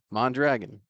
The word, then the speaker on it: Mondragon: First one that actually say it the way it's spelled. Mondragon.